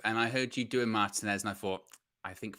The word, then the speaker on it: Martinez: by the way guys it's martinez not martinez do you know what